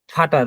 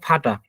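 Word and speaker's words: Vater: হচ্ছে আমরা বলি হচ্ছে ফাটার দেখবেন অনেকেই বলে হচ্ছে ফাটার বা সুপার কিন্তু এটা হবে হচ্ছে ফাটা এই আর উচ্চারণ হবে না এর উচ্চারণ হবে না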